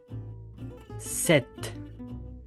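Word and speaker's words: sept: one z s set with enough this okay so as you can see now we have a p on the seven but we don't pronounce it and we have X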